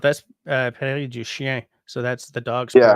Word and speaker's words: Prairie du Chien: Prairie du Chien, which is probably a total, um, Yeah, I I, just saw how that's spelled. That's Prairie du Chien.